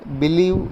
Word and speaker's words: believe: Example, believe has 2 syllables, be and live, but only the second syllable is stress.